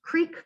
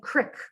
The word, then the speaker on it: creek: So for example, you might think of how this word is pronounced creek by some and crick by some.